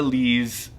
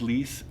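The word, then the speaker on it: lisse: So, hmmm, is there a word that's 'lees?' AZREN: L I S S E. Means, like, very smooth. KYLE: Oh smooth. Okay. AZREN: So French, if you have any, generally speaking, final consonants don't get pronounced.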